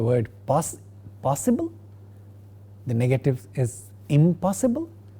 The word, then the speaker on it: impossible: Again, for the word possible, the negative is impossible. The initial sound of the word possible, pa, makes the negative prefix end with ma, and therefore we get the word is impossible.